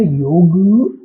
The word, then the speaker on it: योग: तो इसलिए वो किसी भी चीज को इजी बनाने के लिए उसके पीछे ए लगा देते हैं। जैसे योग बन गया योगा।